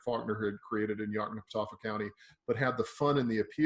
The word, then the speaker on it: Yoknapatawpha: county that I could never in my life pronounce the name of that. What is it? Yoknapatawpha County.